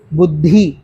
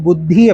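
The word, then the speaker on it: बुद्धि: யூஸ்வலா எப்படி சொல்லுவோம்? புத்தி அப்படின்னு சொல்லுவோம். தப்பு. புத்தி சுவாமிஜி எத்தனை தடவை அந்த தீ சொல்லி கொடுத்துருப்பாரு. ஒவ்வொரு தடவையும் சுவாமிஜி தீன்னு தான் சொல்லுவார், தீன்னு சொல்ல மாட்டார். அப்போது இது வந்து 4வது தி. அப்போ பு இத்து தி, புத்தி, புத்தி இப்படிதான் சொல்லணும்.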